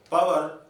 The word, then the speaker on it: power: Because in English, p, t, k, at the beginning of a word, when the syllable is stressed, the sounds are said with force, power, tower, cover. If you say power, it seems Englishmen, they corrected data. They hears it as bower.